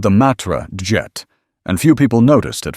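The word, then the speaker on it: Djet: He named it Jet adding a silent D so French people would pronounce it jet just like the English word.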